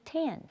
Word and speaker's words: iPhone X: X is pronounced 10, not the letter X.